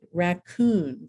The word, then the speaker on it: raccoon: a present okay um the oon and ear syllable is accented raccoon commandeer and last but not